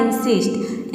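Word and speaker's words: insist: आई का हो जाएगा ई, एन का हो जाएगा आधा न, एच आई एस टी का हो जाएगा सिस्ट, पूरा हो जाएगा इंसिस्ट।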